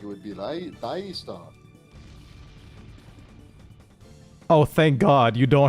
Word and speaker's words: Ristar: Yeah, I've heard people say like it's Ristar but to me Rystar makes it because that's like the Japanese pronunciation. I'm pretty sure, so I just go with that.